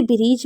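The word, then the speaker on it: bridge: ई लिखना जरूरी है जैसे ब्रीज में आप देख रहे हैं लास्ट में जी ई है लेकिन यहां पर डी साइलेंट है जैसे गैरेज गैरेज में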